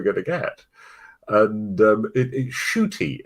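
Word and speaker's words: Ncuti: to get and um shooty is how you pronounce um which is delightful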